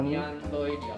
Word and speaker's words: 歡迎來聊: 他的客家話唸法是 The pronunciation in Hakka is 歡迎來聊 fôn ngiàng loiˇ liau 這個是他創作的大嬸婆 This is the grand auntie that he created.